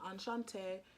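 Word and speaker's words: Enchantée: read this month is anchante i think i said it wrong in my vlog before but i'm pretty sure hopefully i'm not saying it wrong again but i'm pretty sure you're pronouncing enchante and it's by yeah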